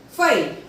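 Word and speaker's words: feuille: F-E-U-I-L-L-E, file. F-E-U-I-L-L-E, file.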